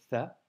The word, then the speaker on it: ث: aujourd'hui nous avons vu la lettre ça qui s'écrit avec trois points et qui se prononce faire comme le mot inc en anglais à ne surtout pas